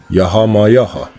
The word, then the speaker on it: YAH: And that's how it's pronounced. YAH.